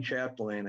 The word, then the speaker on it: Chapdelaine: You did a fine job, Chair. That's exactly the way it's pronounced. For the record, my name is Chapdelaine.